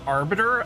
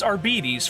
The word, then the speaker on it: Arbites: I've also been saying Arbiter, and I don't think that's actually how it's pronounced. It's Arbites, for sure.